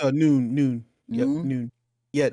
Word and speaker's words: Nguyen: It's pronounced Noon, like Noon.